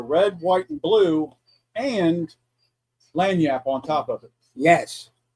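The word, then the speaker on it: lagniappe: It's, Yeah, it's spelled laganappy or some shit like that. Yeah, right. But it's Right. lanyap.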